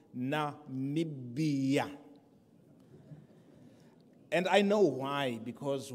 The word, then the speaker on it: Namibia: I will present Namibia, not Nambia, others are struggling to pronounce it. It is called Namibia.